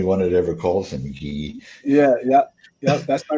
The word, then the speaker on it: Guy: by the way my my name is actually French not to cut in but yeah it should be pronounced yes uh I think maybe I'm the only one that ever calls him G yeah yeah yeah that's